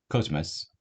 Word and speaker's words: cosmos: 그래서 cosmos, cosmos 코와 카 사이지만 코에 조금 더 가깝습니다. 즈와 스 사이지만 즈에 조금 더 가까워요. 그래서 cosmos, cosmos 이렇게 발음하시면 돼요.